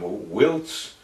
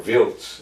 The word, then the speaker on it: Wiltz: We got to our goal was to interdict the highway from Wiltz, or Wiltz as it would have been pronounced, to Bastogne.